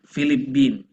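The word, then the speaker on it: فلبين: mau kasih tahu sedik kata Filipina ini orang Arab nyebutnya enggak Filipina tapi filiipin ya pakainya ba filiipin Jadi mereka bacanya Manila philiipin Coba anda ingat-ingat dua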